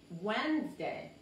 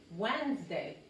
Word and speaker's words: Wednesday: Miércoles, pero eso, todo esta D no se pronuncia y todo esto es una sola sílaba, Wednesday, Wednesday, como la Z otra vez, la Z, Wednesday, no es Wednesday, es Wednesday.